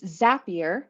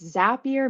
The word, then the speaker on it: Zapier: for anyone who's wondering so it's zapier and if you ever try to remember how to say it it's zapier makes you happier that is legit one of our company mottos makes it super easy to remember um most people do